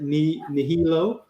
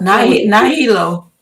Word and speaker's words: Nahilo: If I'm pronouncing that right, Nihilo. But that's Nahilo.